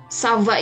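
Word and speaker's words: ça va: bertanya tentang kabar ya kalau kita lihat disini huruf c-nya punya ekor di bawahnya ya Nah kalo ada huruf c yang punya ekor dibawahnya Dia mempunyai posisi menjadi Bunyi es ketika dia bertemu dengan huruf vokal ya ngomong software hai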